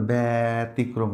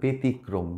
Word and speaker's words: ব্যতিক্রম: মানে পার্সন ব্যতীত আর ব্যতিক্রম এই শব্দটা খুবই গুরুত্বপূর্ণ শিখে রাখো ব্যতিক্রম মানে এক্সেপশনাল হ্যাঁ ব্যতিক্রম এটা কিন্তু আর ব্যতিক্রম না এটা হবে ব্যতিক্রম ব্যক্তি এই তিনটা শব্দ